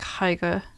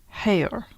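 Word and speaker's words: Haigha: is it looks like hyga he pronounced it so as to rhyme with mayor so hair okay that's what I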